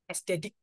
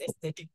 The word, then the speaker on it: aesthetic: an aesthetic person sorry aesthetic what is athetic oh my God is my brother so loud by the way okay the funniest pronunciation I actually find a lot when people say athetic what is athetic man